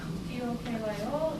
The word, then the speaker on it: Tokyo: It's spelled T-O-K-Y-O in English, but actually first O and the last are long, so I added O. Tokyo. So both sounds are twice as long. Tokyo, no pitch fall.